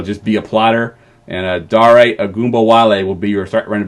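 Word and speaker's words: Dare Ogunbowale: I've actually learned how to say it. I've been calling him Dare all offseason. I actually heard it said finally. His name is Dare Agumbawale.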